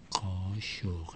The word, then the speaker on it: kaşık: That's another kaşık, and I'm going to put a little comma on top here, so you know that's going to pronounce like a sh.